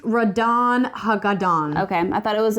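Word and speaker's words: Ratonhnhaké:ton: It's pronounced Radon Hagadon.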